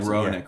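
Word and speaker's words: Hronek: of a tussle with Heronic, I think is how you say the name and HR sound like Ronic, right?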